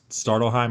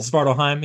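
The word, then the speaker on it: Svartalfheim: there's a dwarf that spits on you and Startelheim, I forget how you say it. Svartalheim, yeah.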